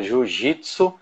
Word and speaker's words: Jiu-Jitsu: coisa para guerra, que o nome se escrevia Jujutsu e a pronúncia era Jiu-Jitsu, né?